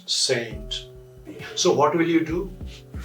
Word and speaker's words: St.: utter doctor we write s t but we pronounce saint so what will you do very simple answer